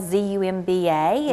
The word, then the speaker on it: Zumba: it's not it's Latin even though it's spelled zu MBA it'sit's zumba zumba uh-huh and it's really